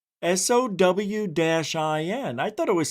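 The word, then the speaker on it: Samhain: And oh, it says pronounced Sen O W- I N. I thought it was Sam Hayne.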